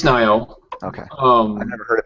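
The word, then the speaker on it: Nioh: and I played the Nio demo. I've got some issues with it, which I went over in great detail on the Basement Radio Arcade podcast. Is it Nio or Nio? It's Nio.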